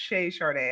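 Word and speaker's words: Chez Charde: me so just to be clear it's actually pronounced shay chardee i hear people i was worried about that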